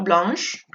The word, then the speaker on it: blanc: On ne va pas prononcer le C.